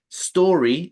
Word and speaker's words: story: Solo la S. Story. Is story. No is Saque la vocal de allí. No es es, no es is. Solo es s, como una serpiente. Story.